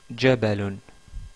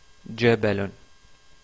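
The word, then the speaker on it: جبل: aujourd'hui est le mot jabalon je répète jabalon qui veut dire en français une montagne ce mot-là commence par le son ja ja marqué ici en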